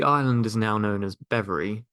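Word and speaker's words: Bevere: is now known as bever spelled b v r e but pronounced like the word ever and it is made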